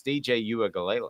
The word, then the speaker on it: Uiagalelei: I just choose not to say their last names if I can't pronounce them. I'm much worse at Nico's, but it's DJ Uiagalelei.